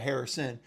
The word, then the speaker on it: Harrison: idiots and said Marvis Harris is going to stay there um at number four the only thing I'd say is Sir learn to pronounce his last name fully correct at Harrison but anyway Marvin Harrison